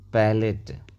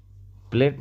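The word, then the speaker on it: palate: ई ये हो जाएगा पैलेट प्लेट नहीं पैलेट T double E टी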